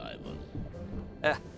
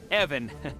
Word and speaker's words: Ivan: Ivan, Evan, it's it's pronounced Evan with a short guttural.